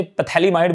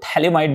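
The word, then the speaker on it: phthalimide: उसमें P silent होता है, कई बार हम लोग उसे पैथैलीमाइड बोल देते हैं, लेकिन ये याद रखना है वो थैलेमाइड बोलते हैं, उसको P साइलेंट रहेगा।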